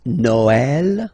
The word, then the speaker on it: Noël: that in some cases you will have to pronounce it like eh, okay, like for instance Noël, okay, but then in some cases as well it can be pronounced like eh, okay.